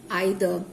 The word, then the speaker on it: either: So the water is not clean either. You can say either or either, E-I-T-H-E-R, that you can pronounce it as either or either, both.